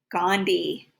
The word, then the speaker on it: Gandhi: j turn and end gandhi here's that silent h again all right moving on